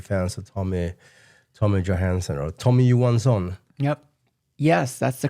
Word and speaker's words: Tommy Johansson: I mean, who have been following us for some time, we are big fans of Tommy Johansson or Tommy Johansson. Yep. Yes, that's the correct pronunciation.